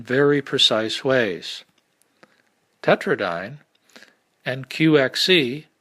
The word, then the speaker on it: QXC: precise ways tetrad and qxc pronounced quickie are vehicles for qcmp